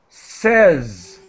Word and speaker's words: says: thank you let me help you with your pronunciation says says in in English I would write it